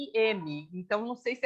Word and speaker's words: Nasim: mim era Nassim, né? É, Mas eu acho que talvez a pronúncia correta fosse Nazim, né?